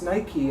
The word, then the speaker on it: Nike: like but but why why is this nike and not knight and yeah right because